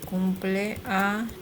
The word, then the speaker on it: cumpleaños: Cumpleaños. It's not an N, it's an ñ. Cumpleaños is.